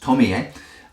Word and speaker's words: Tomie: watching one of the movies found out it's pronounced Tomie, and Gyo, equally gorgeous collections.